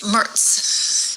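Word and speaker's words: Merz: name this way right he spells it a little differently it's me e rz but in German it's pronounced so it's Mertz Friedrich said hey you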